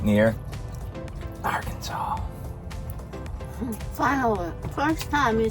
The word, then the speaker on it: Arkansas: We're right near Arkansas.